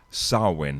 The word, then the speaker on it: Samhain: And the tradition originated with the ancient Celtic festival of Samhain. And I have to remember to pronounce that right, because Samhain, they actually spell it Samhain.